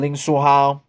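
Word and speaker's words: 林书豪: Slam dunk from Jeremy Lin from Ling Suhao. And that's how you say his name in Chinese, Mandarin Chinese.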